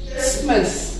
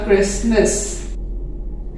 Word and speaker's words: Christmas: क्रिसमस, CHRISTMAS, क्रिस्ट miss लिखा जाता है बट इसमें ये टी प्रोनाउंस नहीं होता, क्रिसमस।